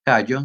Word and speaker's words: callo: cc del mismo modo la palabra callo se pronuncia con la Y en vez de la do l mostrando el yeismo